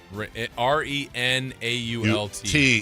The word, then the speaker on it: Renault: R E N A U L T T. Yeah. Is that Is it pronounced that or is it pronounced It's pronounced Renault.